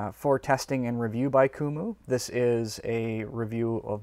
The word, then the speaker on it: Coomooy: of keyboard for you this one is from kumu that's how it's pronounced and it's a Bluetooth foldable keyboard with